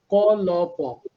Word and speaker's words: কল্প: কবিতাটার নাম কল্প, ক ল প, কল্প কাহিনীর যে কল্প, সেই কল্প উচ্চারণে, কিন্তু অর্থে নয়।